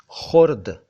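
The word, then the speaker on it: ख़ुर्द: खुर्द, खुर्द नहीं, खुर्द। खुर्द शब्द जो है वो गांव के नामों में या मोहल्ले के नामों में आता है।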